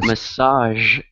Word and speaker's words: massage: you're sounding good yeah remember massage that sound at the end is the same as Visual and what was the other usual usual that's that's right Absolutely